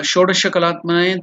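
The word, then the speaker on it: षोडशकलात्मने: So the pronunciation is sha, not sha, not the dantavya with your teeth, but it is sha, murdhanya. So shodasha. So that is sho is elongated dirgha. Sho the sh next sh is the next one. That is the sh with your teeth sh.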